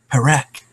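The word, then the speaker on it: Parek: Perak.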